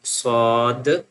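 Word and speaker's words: ص: So sheen lam sheen lam sheen lam The next one swad and then dwad swad and then dwad swad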